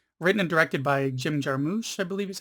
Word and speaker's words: Jarmusch: die from 2018 written and directed by jim jarmusch i believe is how his name is pronounced who i am mainly familiar with from